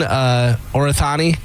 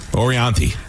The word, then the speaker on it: Orianthi: By the way, is he still dating Orathani?